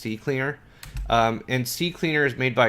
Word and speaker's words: CCleaner: Some people pronounce this CC Cleaner, but if you look at it a little bit more closely, it's just CCleaner.